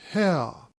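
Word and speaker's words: Haigha: happy his name is hell he pronounced it so as to rhyme with mayor I love my love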